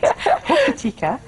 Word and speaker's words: Hokitika: I never pronounce it right. Hokitika.